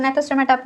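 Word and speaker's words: Gnathostomata: यहाँ पे जी साइलेंट है, इसको नाइथोस्टोमेटा बोल रही हूँ मैं।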